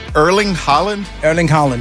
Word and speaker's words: Erling Haaland: So Erling Haaland, yes.